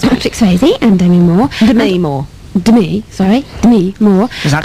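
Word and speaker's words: Demi Moore: De Moore. Is that how Barry says it, isn't it? No, that's how it's pronounced.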